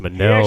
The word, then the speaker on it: Munnell: it's pronounced Manel, actually's got the motherfucker.